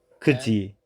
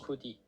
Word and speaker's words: 굳이: so they are pronounced as 같이, Kachi and instead of kati, Kuji. 굳이, instead of Kuji. kudi.